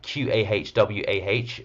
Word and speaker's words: قهوة: So the term coffee itself is derived from the Arabic word qawa, or Qahwah, so qawa, which designates a beverage produced from roasted beans.